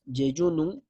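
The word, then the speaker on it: jejunum: sonda J, básicamente porque en inglés el yeyuno es yeyunum, pero se escribe con J, o sonda PEG, por sus siglas en inglés nuevamente, yeyunostomía endoscópica percutánea.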